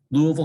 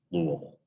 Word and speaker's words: Louisville: Yeah, it looks like it should be Louisville. And I think that's really the proper way to say it. But supposedly, the official way to say a place name is the way the inhabitants say it. So supposedly it's Louisville.